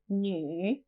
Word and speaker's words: 女: female and Mandarin is new new female new new this character can be a bit difficult to pronounce it sounds a bit like a crossover between you and me new new now you